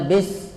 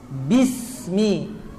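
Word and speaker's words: بسم: harakat Bi sama ya Bi Jangan dibaca bis tapi Bi benar-benar kasrah Bismi Adam bayani kemudian sinnya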